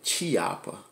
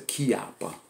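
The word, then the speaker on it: Chiappa: This is old Chiapa. Some people say Chiapa, but it's a Chiapa. That's the way they pronounce it over in Italy.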